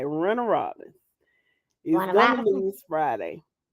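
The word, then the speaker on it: Warner Robins: You are from Middle Georgia because you said it right. Renner Robbins is gonna lose Friday. Robinson?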